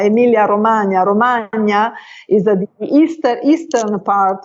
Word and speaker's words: Romagna: I used to live in Castrocaro, which is, as you pronounce it as Romania, but it's Romagna, Emilia Romagna.